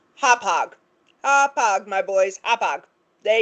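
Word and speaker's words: Hauppauge: Um, our dear friends over at the Midnight Train podcast, just so you know, that town 15 miles north of Gilgo Beach that you were trying so adorably to pronounce is Hopog.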